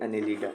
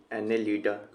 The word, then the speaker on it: Annelida: ये खून खराब कर रहा है, इसी को समझ लो क्या है ये, एनेलिडा। एनेलिडा से अनिल कपूर, ठीक है।